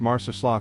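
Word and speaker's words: Marsaxlokk: Marsac Slope pronounced Marcus is Malta's postcard perfect fishing village where time seems to move with the tide.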